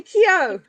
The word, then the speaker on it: Keogh: But we've got a bestselling author Valerie Kio. And I'm hoping I pronounced that right, Valerie.